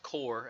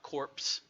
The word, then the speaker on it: corps: and it is pronounced core as in Kor our Co re it's not corpse as I hear a lot of people say it so we'll give them